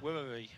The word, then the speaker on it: Sawekwharee: But Rodrigues from Mexico and Sawekwharee. It's hard to say that with a H in the middle, isn't it? It's yeah, it is. Wharee. There you go. It's like a silent H almost.